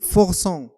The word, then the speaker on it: forçons: nous forçons. nous forçons هنا لو فيرب فورسي، هنا السي مع او خصنا نطقوها كاس، اذا نزيدوها لا سي دي.